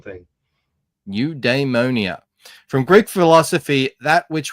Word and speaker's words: Eudaimonia: I have the definition for you at the top and the little pronunciation thing. New Damonia from Greek philosophy.